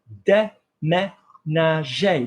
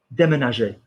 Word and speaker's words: déménager: Look at this word, beautiful to practice with. Déménager. We've got 3 eh.